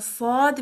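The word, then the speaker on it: ص: So you begin the letter saad with the s sound, which is similar to the letter seen. So the beginning would be similar like a seen, but once you pronounce it, make it heavy by curving the tongue and raising it from the back.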